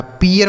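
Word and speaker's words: pear: पी से पढ़ेंगे प, इसका उच्चारण क्या होगा? ई है, तो इसे पढ़ेंगे पी, आर से रो लिखा। पियर मतलब क्या होता है?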